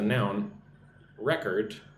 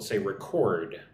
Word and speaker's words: record: noun, right, here's the noun record. But if it's a verb, we'll say record with the emphasis on the second syllable.